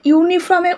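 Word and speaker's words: uniform: এ কে আমরা ব্যবহার করি, কারণ এই যে এগুলো কেন বলছি, এটা ইউনিফর্মের উচ্চারণটা কিন্তু কি হচ্ছে, ইউ হচ্ছে না, ইউনিফর্মের উচ্চারণটা ওয়াই হচ্ছে, ঠিক আছে?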